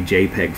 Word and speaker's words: JPEG: pptc3.jpg and that is a jpeg file is how we pronounce that so i'm going